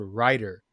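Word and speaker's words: Rytr: using as well is called writer and it's spelled r-y-t-r and writer is is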